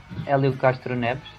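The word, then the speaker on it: Hélio Castroneves: Just tell us, how do you pronounce his name completely right? Helio Castroneves.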